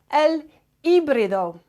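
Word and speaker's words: híbrido: in espanol is called el ibdo el we're not pronouncing the H and the I it's got an accent on it so we give that letter more emphasis L IO and we've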